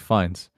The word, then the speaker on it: Fiennes: And I think part of the charm is Ralph Fiennes' performance. It's Rafe. It's pronounced Rafe.